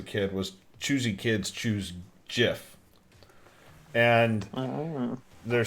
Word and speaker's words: GIF: um it says that the pronunciation with a hard g is now very widespread and readily understood so i don't think